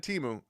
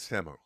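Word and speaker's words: Temu: it it's aluminium aluminium uh it's actually it's pronounced temo I think is is what temo it's it's not teu that is temo and that's what the whole commercial existed as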